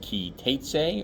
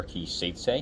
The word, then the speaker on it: Ki Teitzei: This week's Parsha is Ki Teitzei, or Ki Seitzei in the Ashkenazi pronunciation.